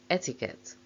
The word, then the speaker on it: etiquette: suffix usually respective terrible words ending with double e double e r e s e e s q u e or e t e are usually stressed on that syllable guarantee referee volunteer mountaineer chinese portuguese picturesque cigarette laundrette but there is an exception etiquette there are other exceptions